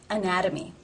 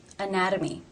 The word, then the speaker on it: anatomy: between two vowel sounds anatomy anatomy therefore it is the flap T sound or D Anatomy and again the